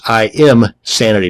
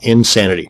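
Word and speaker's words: Imsanity: i pronounce that and another one is insanity that's im sanity not insanity both of these once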